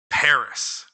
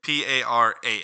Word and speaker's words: Paras: Paris. The city? Or the Pokemon. Whatever you want to do. Okay, I just want to know who was spelled the same. It is not. It's Paras, not IS.